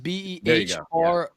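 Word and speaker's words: Behren: I think it's Baron is how it's pronounced. It's Behron, but it was something weird, which is why I didn't remember it.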